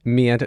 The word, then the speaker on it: Mientus: Mientus.